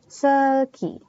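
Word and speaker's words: 슬기: Kayak contoh misal artis Korea, misalnya namanya Seulgi. Jadi, misalnya kita mau baca namanya Seulgi ya, itu kita U-nya tidak terbaca, tapi hanya E saja. Seulgi.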